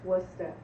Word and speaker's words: Worcester: Nobody can pronounce that. Worcester. It's Worcester. Okay. It's like there's- Woostah.